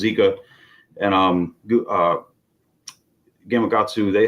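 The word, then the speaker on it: Jika: called a zika rig spell with a J but pronounced zika and um uh Gamakatsu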